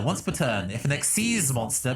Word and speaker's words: Xyz: per turn if an xc is monster because that's how you pronounce xyz it's xc's if the next seas